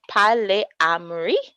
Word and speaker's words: polyamory: to psychology today uh polyamory and that's what we're talking about tonight pronounced pale amri right so it's a